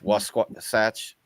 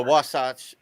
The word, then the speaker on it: Wasatch: wrong, but the Utah it's almost like Sasquatch. Wasatch.